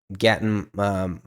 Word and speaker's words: Gaten: Joe Keery, Gatton Matarazzo. How do you say his last name? I don't know. I don't know how to say his last name. It's Gaten Matanzaro.